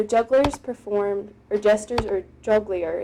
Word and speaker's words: jongleur: And so jugglers performed, or jesters, or jongleur is how it's said, performed for the king and for their audience.